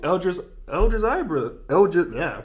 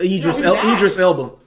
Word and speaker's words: Idris Elba: Eldris Ibra. How you pronounce his Eldris name? Zebra. Yeah, Ibra. Idris Elba.